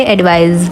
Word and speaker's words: advise: इसकी स्पेलिंग में आखिर में SE आता है लेकिन साउंड इसमें Z के आता है, यानी कि एडवाइस।